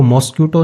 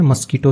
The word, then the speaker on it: mosquito: द मस्कीटो, तो इसको मॉस्क्यूटो नहीं पढ़ते हैं, मस्कीटो ही पढ़ते हैं।